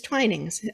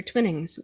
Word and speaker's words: Twinings: still there this is twinings um they pronounce it twining believe it or not usually americans hear twinnings but the uk ads on television will say twinings he opened the shop